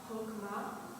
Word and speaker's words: Chokmah: Chokmah. Good, and can you make it a little more guttural on the second cream is they throw the accent to the first syllable And what is Purim?